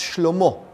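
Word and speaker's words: שלמה: His son, Solomon, which in Hebrew is pronounced Shlomo, which means peace.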